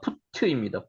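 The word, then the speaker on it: פוט: 붓. 붓. 붓. 있습니다. 우리 한글로 부산 저거죠. 그냥 먹물 갈아서 글씨 쓰는 거 한자 한 한글 저저 붓글씨 쓰는 거 붓 요거를 실제로 하고 히브리 원문을 읽어봐 푸트입니다. 푸트 이것이죠.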